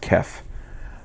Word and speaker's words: KEF: Kef also, I think it's pronounced Kef.